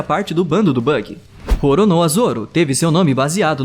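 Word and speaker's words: Roronoa: inimigo que fazia parte do bando do bug rono a Zoro teve seu nome baseado no pirata francês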